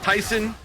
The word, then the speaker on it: Tayson: So yes, this does look like this is going to be Tayson versus Zombie, which 2 weeks ago I learned it's pronounced Tyson, like the chicken.